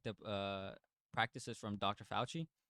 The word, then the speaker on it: Fauci: have been seeing like dr falci how do you say his name fauci oh dr fauci has been getting uh